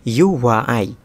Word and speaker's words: EUOUAE: এবার নাম্বার 9-এ যে শব্দটি রয়েছে সেটির উচ্চারণ হলো UY।